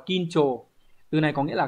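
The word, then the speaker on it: 緊張: Hán tự của chúng ta là chữ khẩn và chữ trương, đọc là kincho.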